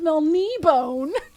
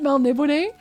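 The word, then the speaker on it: Melniboné: Actually, it's pronounced Melnibone.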